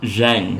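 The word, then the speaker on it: Xeng: Jen blend if you'd like to try it Jen it's spelled x e n g I believe it's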